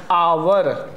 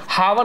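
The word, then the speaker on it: hour: क्योंकि इसको क्या पढ़ा जाता है? आवर। ठीक है? आवर। ठीक है? हावर नहीं पढ़ा जाता क्योंकि इसमें एच साइलेंट होता है।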